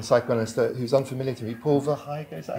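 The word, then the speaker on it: Paul Verhaeghe: And you talk about the work of a Belgian psychoanalyst who's unfamiliar to me, Paul Verheyghe, is that how you pronounce it?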